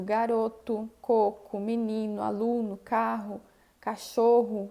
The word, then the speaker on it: garoto: A letra O vai ser pronunciada como um U no final das palavras quando ele não for átono, tenha S ou não, tá? Então, escrevo garoto e eu digo garoto, coco, menino, aluno, carro, cachorro, banco, ok?